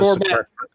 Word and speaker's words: gourmet: Well, that is gourmet. Gourmet would be the correct pronunciation.